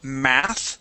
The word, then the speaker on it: math: Okay, let's go to the word math. So this is, instead of meth lesson, it is math lesson. Math. Yes, okay, so pronounce that TH. This is going to be an unvoiced TH at the end.